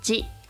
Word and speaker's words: 字: Pronounced as aza for village sector, but usually it's just pronounced as ji.